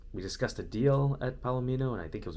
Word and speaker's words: Palomino: visited palomino petroleum and it's palomino not palomano i really butchered that